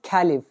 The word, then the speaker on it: Caliph: यहाँ पे ये जो हमारा वर्ड है कैलिफ, इसका इंग्लिश में प्रोनाउंसिएशन होता है कैलिफ। हिंदी में हम इनको बोलते हैं खलीफा।